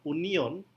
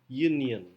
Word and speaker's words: union: Union dan use use jadi pengucapan kata Union itu bukan Union bukan Union tapi Union jadi seolah-olah i-nya itu menjadi y kemudian ada use bukan Us